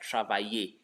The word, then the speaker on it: travailler: Just like travailler. That ye there is actually double L, not Y.